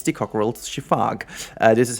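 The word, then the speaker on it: Coquerel's sifaka: video it was the cockal shiaka but it's not true I just did even more research you don't pronounce the a at the end I did actually watch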